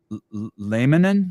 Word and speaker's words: Laminin: Laminin, like laminin? Laminin. Yeah, like laminate, but laminin.